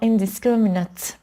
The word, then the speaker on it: indiscriminate: خب وقتایی که صفت هستن ما این کلمات رو ایت تلفظ نمی کنیم بلکه ات تلفظ می کنیم. اوکی؟ بذاری با قلم نشون بدم صداش رو. یه شوا تلفظ می کنیم و یه دونه ت، اینجوری ات. اوکی؟ بنابراین میشه deliberate ات یا indiscriminate.